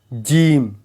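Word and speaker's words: gym: जिम में जी के बाद वाई आया है। इसीलिए जी का उच्चारण ज की तरह किया जा रहा है।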